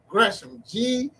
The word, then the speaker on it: Gresham: GRESHAM.